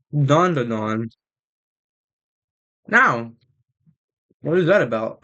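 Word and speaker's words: Dandadan: It's Dan D-A, D-A-N, D-A, D-A-N, Dan, Da, Dan. But it's pronounced Don, Don, especially in the song.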